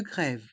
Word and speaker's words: grève: des trains des pertur ici on prononce bien le E accent grave de grève grève d train les lettres